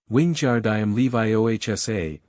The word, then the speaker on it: Wingardium Leviosa: "The swish and flick, my dears, and remember the precise pronunciation. Wingardium Leviosa. Got a nice and long O, nice and round."